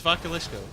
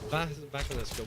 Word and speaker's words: Vakulisco: It is. It's Vakulisco. Vakulisco. We'll go with that. It's not Val Kilmer, and it's not Vaseline Disco either.